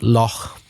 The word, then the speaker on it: Lough: Is it Lao? It's pronounced loch. A loch, like the Scottish loch.